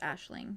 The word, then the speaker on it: Aisling: name her last name Ashling is spelled a-i-s-l-i-n-g um it's it's like Irish apparently and it's pronounced Ashling rather than like aisling or anything like that um that's cute yeah